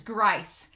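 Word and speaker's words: Gryce: saying the name wrong it's not greece it's grice grice uh and i when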